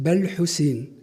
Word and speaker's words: Bel-Hussein: So I said, my name is a French contraction of Ibn al-Hussein, the son of Hussein. And therefore, in French, it is pronounced Bel-Hussein.